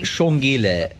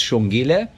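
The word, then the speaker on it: Xongile: Judy Hurd of Shongile. X-O-N-G-I-L-E. The X in Shangan is pronounced sh. So that's Shongile.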